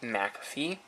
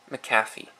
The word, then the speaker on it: McAfee: of the maafi antivirus some call it McAfee it's actually pronounced maffy after this point I